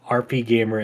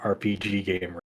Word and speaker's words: RPGamer: go to your outlet, it is pronounced RPGamer and not RPGamer.